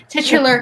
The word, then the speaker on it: titular: So The Grinch is the most recent Christmas musical to receive the live television treatment with the just thinking about Brett, titular character being portrayed by this Broadway veteran of shows like Hairspray and Light in the Piazza.